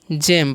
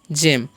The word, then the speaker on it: gem: Okay, क्योंकि GE है तो उसका उच्चारण जो है ज हो रहा है। और GEM तो इसे क्या पढ़ेंगे, हम जेम पढ़ेंगे। क्या पढ़ेंगे, जेम।